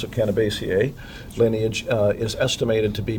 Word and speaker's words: Cannabaceae: know how to pronounce that word, I always pronounce it Cannabaceae, lineage is estimated to be between 30 and 90 million years old on this planet.